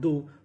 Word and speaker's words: though: THOUGH, यहाँ पे उच्चारण करना है दो।